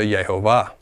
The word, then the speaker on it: Yehovah: How many syllables is Yehovah? 3. 3 is not the same as 2.